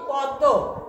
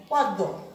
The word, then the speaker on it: পদ্ম: প দয় ম ফালা পদ্ম আমরা উচ্চারণ করি কি পদ্ম এই ম ফলার উচ্চারণ আসে না ম ফালা যে মফলার